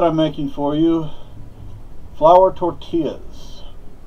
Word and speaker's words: tortilla: Now, today what I'm making for you, flour tortillas. It is pronounced tortilla, not...